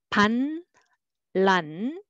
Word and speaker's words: 반란: And one more, 반, 란, together, 반란, 반란. So you hear r sound instead.